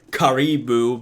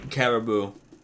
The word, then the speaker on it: caribou: got the pronunciation right they previously pronounced it as karibu but uh yeah it's actually caribou and what do you know